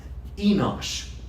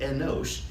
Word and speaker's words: Enosh: Enosh. You ever heard that name, Enosh? It's like Enoch, but with an S instead of a C.